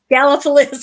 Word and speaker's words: Gallipolis: Gallipolis.